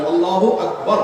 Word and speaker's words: আল্লাহু আকবার: না, ঠিক হবে কেন? তাকবীরের সাথে বলতে হবে আল্লাহু আকবার, আল্লাহু আকবার, এরকম বলা যাবে না।